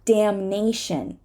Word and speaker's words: damnation: need to say it damn damn but damnation damnation again it became part of the next syllable so we're gonna say